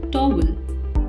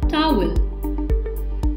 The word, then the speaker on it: towel: us use D but we make the mistake of pronouncing it as toggle remember the T ough in the beginning of the word is pronounced as taa hence the word is pronounced asked towel lipstick is a colored